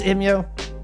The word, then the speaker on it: EMEA: A, is it pronounced EMEA? B, where did you play in Season 5? Yes, it's EMEA.